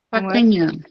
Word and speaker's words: Pacagnan: Pacanhã. Pacanhã. Se escreve Pacagna.